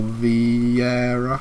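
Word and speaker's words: Vieira: alex anderson chancol and gabriel j zeus fabio v herrera that's how you say his name and then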